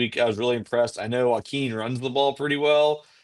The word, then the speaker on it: Joaquin: Let me say it correctly for you two guys who can't seem to pronounce things, as I was just struggling with the word pick. But Hamilton versus Joaquin here in this 2A Division One matchup.